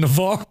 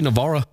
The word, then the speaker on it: Navarre: Do I say Navarra? Yeah. I mean, that's how you pronounce it. I mean, it's spelled Navarre. Navarra. Well, people in Navarre say Navarre. Oh, really? Yeah, that's what they call it.